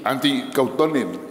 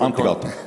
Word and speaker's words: Antti Kauttunen: Y tenemos al primer secretario de la Embajada de Finlandia, que es Antti Kauttunen. ¿Está bien pronunciado eso, no? Sí, muy bien. Ya, muchas gracias. Antti Kauttunen.